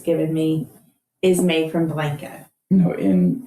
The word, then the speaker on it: Blanco: Texas because we pronounce it like Blanco instead of Blanco. Instead of what? Blanco. Blanco is the way it's said in Spanish.